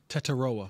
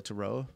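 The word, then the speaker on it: Tetairoa: wide receiver out of Arizona and I can't pronounce his name taroa yeah Teta say it again taroa taroa um that receiver position worries me with the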